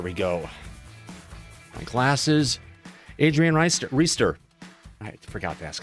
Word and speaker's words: Reister: ADRIAN REISTER. I forgot to ask how to say his name. Did I get it right, Adrian? No, it's Reister.